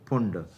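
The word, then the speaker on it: Pfund: पी होता है फिर फुंड फुंड की स्पेलिंग देखिए पी से स्टार्ट होती है पी साइलेंट है तो इस प्रकार से पांच श्रेणियां होती हैं।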